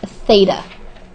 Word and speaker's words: theta: to write that down and this is um pronounced Theta it's a Greek symbol t h e t